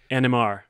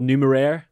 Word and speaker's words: Numeraire: say this is uh how do you pronounce it so this is the numerai uh cryptocurrency yeah nmr nmr what's you just say nmr it is it is technically called numero numero i like it